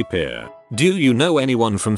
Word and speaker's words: Pierre: capital of south dakota pierre wrong but she kept saying pierre two syllables like the french name and he said it was pier one syllable like what you fish off